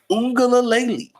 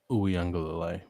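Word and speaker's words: Uiagalelei: North Carolina and Drake May, or Clemson with DJ Ungalalele? Uyunglele.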